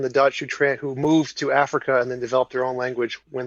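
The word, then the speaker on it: Afrikaans: mispronounce this did Africa it's spelled a-f-r-i-k so like Africa but with a K Africa and then a-a-n-s this must be is this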